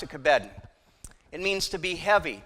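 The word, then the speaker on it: כָּבֵד: The word that is there for honor is the word, we would pronounce it kabed.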